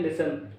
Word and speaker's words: listen: इसमें T silent होता है, इसको बोलते हैं लिसन।